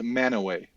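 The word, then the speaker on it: Mantua: Oh, but it's pronounced Manoway. Manure. What? It's pronounced Manoway.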